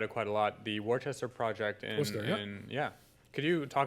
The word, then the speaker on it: Worcester: Worcester, you got to say it like the Massachusetts guys.